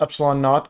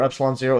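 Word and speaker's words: ε₀: Denoted E naught, pronounced epsilon naught or epsilon 0, is the value of the absolute dielectric permittivity of a classic vacuum.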